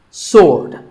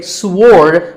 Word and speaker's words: sword: Sword. Many people say sword, but that is totally wrong.